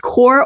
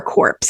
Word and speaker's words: corps: Now, the members of this corps, I don't know if it's pronounced corps or corpse. I'm going to say it is corps. The T is silent.